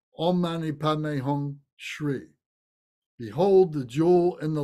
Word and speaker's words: Shri: That's pronounced Shri.